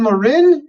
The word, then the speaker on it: Morin: um get our guest on Nathan yeah Jonathan Maureen Jonathan uh welcome to the program Jonathan uh real quick I want to make sure I am pronouncing your name correctly is it Jonathan Morin am I is that correct Bud Lauren Warren